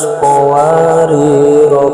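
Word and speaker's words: قَوَارِيرَا: Cara bacanya, saat bacaan disambung atau wasol, kata yang ada di shifr mustadil ataupun shifr mustadir harus dibaca pendek. Seperti contoh, wa aqwabin kanat qawarira min fiddah.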